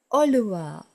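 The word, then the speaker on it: ඔළුව: And the head, the Sinhala word for head is oluwa, oluwa.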